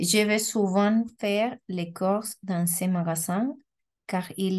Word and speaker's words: cours: Cours, solo vamos a pronunciar cours. Igual, esto es como el ton, siempre va a tener S al final. Tengo clases de francés. Je cours. ¿D'accord? No se pronuncia la S. Solo está la R. Cours. Y no course.